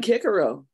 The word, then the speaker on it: Cicero: I know that Latin if you're speaking Latin C is pronounced k okay in America that's